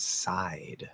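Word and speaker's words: sight: position um but anyway how to pronounce the word side like that side um so outside this is going to sound if i were typing and this is going to sound exactly the same as this um there's no difference in pronunciation the gh is silent um there's a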